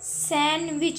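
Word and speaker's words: sandwich: सैंडविच, इसको सैंडविच नहीं पढ़ना है, जो लोग इसको सैंडविच प्रोनाउंस करते हैं वो रॉन्ग करते हैं, डी साइलेंट होते हैं, हम इसको सैंडविच, इसकी सही प्रोनाउंसिएशन है, ओके।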